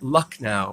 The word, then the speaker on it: Lucknow: it looks like it's and it and I'll spell that Lucknow well it's gonna be in the notes lü